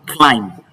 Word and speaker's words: climb: to thumb and lastly climb climb. line. I need you to understand that it is the sound that comes before the B or after the B that is pronounced.